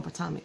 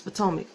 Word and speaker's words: Potomac: I always say it wrong, Potomac. It's Potomac.